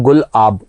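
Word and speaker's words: Gulab: गुलाब जो नाम दिया गया ये पाकिस्तान ने दिया है, और इसका हम गुलाब बोल रहे हैं, बस इसका वैसे प्रोनाउंसिएशन है गुल-आब.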